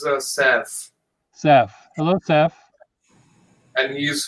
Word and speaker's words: Saif: Saif. It's pronounced as Saf.